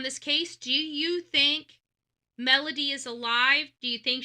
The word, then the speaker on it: Melodee: right now designated for Melody uh Buzzard. It says, "Where is Melody Buzzard?" And her name is spelled M E L O D E. Melody D, not with a Y, with two E's.